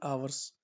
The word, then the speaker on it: hours: Cricket आ गया फॉर 3 hours। ठीक है, एच इसमें साइलेंट होता तो आवर्स बोलते हैं इसको।